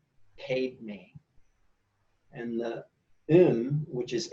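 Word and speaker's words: padme: way to pronounce it Padma is spelled PA DME but I was told to pronounce it paid me and mmm which is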